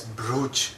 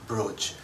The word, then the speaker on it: brooch: the same as b-r-o-a-c-h brooch it rhymes with coach to celebrate her promotion